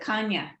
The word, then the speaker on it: Chania: they pronounce it Kanya, Oh, Kanya.